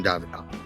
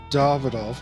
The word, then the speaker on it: Davidoff: everything I expect from David and he pronounced it correctly folks it's pronounced davidov not David agree to disagree I know it spelled David the [ __